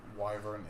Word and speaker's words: wyvern: Brown whatever I know I know wyvern is the correct way to say it but I don't like that way to say it Apple podcast I look at the word and I see wyvern you know what I